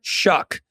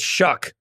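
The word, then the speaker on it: Shough: a man named Tyler shuck it is spelled s h u g so it you'd think it'd be like sha or show or Shu sh but it's shuck and uh the man has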